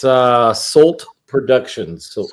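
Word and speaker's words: Solt: It's uh Salt Productions. So S O L T Productions is So you telling me it's salt? It's not stol. Yeah, you've been saying it wrong the whole time.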